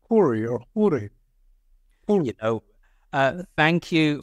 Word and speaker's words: Khouri: much needed Aid kahori uh welcome to midatlantic how are you today I am good uh just to correct the pronunciation my name is corri you know uh thank